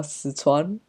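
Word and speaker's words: Sichuan: coffee of course um suan Cuisine look I I'm not sure if I'm pronouncing it uh 100% accurately either sitan is probably the very English way of pronouncing it um it's a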